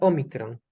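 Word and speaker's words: ómicron: Ok, parece la O y se pronuncia Omicron.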